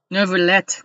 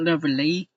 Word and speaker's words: Neuvillette: Neuvillette, not Neuvillette. I don't know when do we have to pronounce that T and E at the end for French, man.